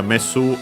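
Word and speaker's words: メス: Uh messu accent on the last syllable.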